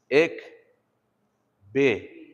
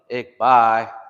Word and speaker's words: ikbi: Ik be. Not ik be or ik by or whatever. Ik be. Ik be. Okay? And then so it's just two syllables. So ik and then be.